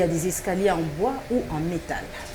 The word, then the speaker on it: escalier: Aujourd'hui, nous apprenons le mot escalier. Il y a plusieurs personnes qui le prononcent mal pour dire scalier. Il ne s'agit pas du scalier, mais plutôt de l'escalier.